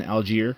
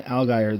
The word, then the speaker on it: Allgaier: the most recent races, I discovered that I was mispronouncing his name. I thought it was Justin Algier, but I have Justin Allgaier.